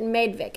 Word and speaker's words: Madvik: She says it Madvik, and I think she's in Denmark.